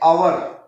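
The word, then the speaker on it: hour: एच से लिखा है, लेकिन एच जो है यहाँ पे साइलेंट है और ये हमें आवाज जो है इसकी साउंड जो है वो अलिफ की आ रही है। तो then we will say आ आवर और एन आवर, एच साइलेंट है ना, सो दिस वे हम ये कहेंगे एन आवर।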